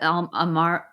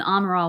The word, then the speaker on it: Amaral: But Amaro I can never say her name. Amaral. Amaral, thank you.